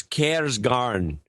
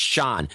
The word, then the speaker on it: Søren Kjærsgaard: No, it's Kjærsgaard. D's not pronounced. It's not pronounced Soren. It's Sean.